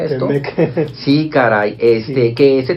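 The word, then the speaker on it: T-MEC: El Telecán contra el ahora denominado Temec, ¿o cómo se pronuncia esto? Temec.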